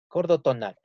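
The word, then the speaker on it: cordotonal: de un órgano llamado gordo tonal gordó tonal y así se llama este órgano aquel que dice sordo se escribe se pronuncia acordó gordo tonal y viene a ser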